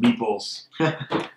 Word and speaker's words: meeple: buildings and devour innocent meeples in short so Terror while having fun the monster has caused the most damage after the carish finally end wins the game note meele pronounced meeple refers to the miniature